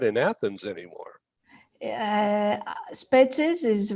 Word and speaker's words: Spetses: smaller and closer in, called I'm going to mispronounce it, called Spetsa or something like that, a small one, right? Spetses.